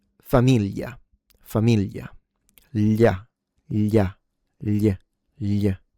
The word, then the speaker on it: famiglia: So, people in the south tend to uh reduce it or simplify the sound and basically pronounce it like a Y.